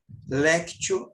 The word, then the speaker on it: lectio: pega papel pega a caneta escreve esse sentido léptio divina como é que escreve isso Renato ele é C mudo t e o do lado se escreve Divino lectio Divina leitura Orante que significa então a